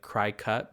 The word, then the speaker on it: Cricut: It's spelled Cricut, like cry cut, but Cricut.